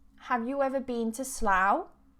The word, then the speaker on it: Slough: ever been to Slough now this spelling of SL Oh ugh can be pronounced and I think three or four different ways but it depends if it's a noun a verb depends on the context okay today I've just